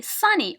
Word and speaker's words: sunny: We say sunny, okay? It is stressed in the first syllable, and the same with the other examples.